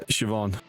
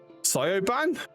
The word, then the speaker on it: Siobhan: Yeah, when I first, before someone like told me, I looked at that, it was like, oh, Sioban? That's an interesting name. Like, no, that's not how you pronounce it.